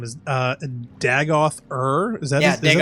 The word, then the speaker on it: Dagoth Ur: Courtney likes the final boss's name is Dagoth Ur. Is that Yeah, is that the Dagoth boss's Ur. name? Yep. Am I pronouncing that correctly?